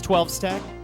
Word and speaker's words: XII Stag: lungs there so guru is it 12 stag or is it xii stag what is it z stag what would you how would you pronounce this game guru you're a resident shmup expert it's 12 stack it's a bit